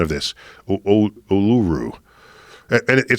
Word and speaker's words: Uluru: help me I get I get my correct pronunciation of this uluru and it said it's I'm told it's one